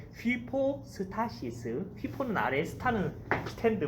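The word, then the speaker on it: ὑπόστασις: 히포스타시스, 제 발음이 휘포스타시스.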